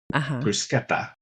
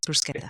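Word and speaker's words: bruschetta: I I I bought so many helpings of I understand the proper pronunciation now because I was very quickly corrected. Bruseta. Yes. Bruseta.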